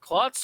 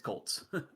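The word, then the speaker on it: Kolts: clocks or is it clots or knots it's colts yeah like the animal it's okay i i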